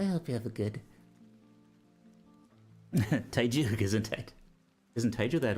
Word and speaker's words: Teiyu: Teiyu, isn't it?